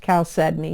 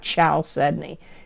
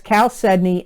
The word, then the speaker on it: chalcedony: it I think so chalcedony doesn't look like it's pronounced that way but it is pronounced chalcedony not ciao Suddenly It's Cal Sydney and it's c-h-a-l-c-e-d-o-n-y chalcedony